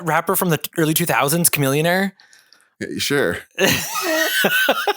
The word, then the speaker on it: Chamillionaire: from the early 2000s Chamillionaire sure B billionaire rhymes with Chamillionaire I'm pretty sure there